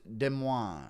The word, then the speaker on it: Des Moines: It's pronounced Des Moines.